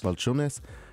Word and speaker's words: Balchunas: Balchunas.